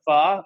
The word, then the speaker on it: pho: a lot of pho, and she makes a lot of and you say it correctly, but when someone says it incorrectly here, especially in Alabama, they'll say pho or whatever.